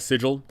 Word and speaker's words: Sigil: love planescape i love sigil it's technically pronounced sigil by all accounts however sigil just sounds so much better so whatever um so